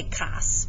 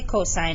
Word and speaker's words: cosine: angle a so again don't say cos please just say cosine it's just an abbreviation um it's sort of like mrs buck right you don't say mers okay so you kind of say the whole thing and um any abbreviation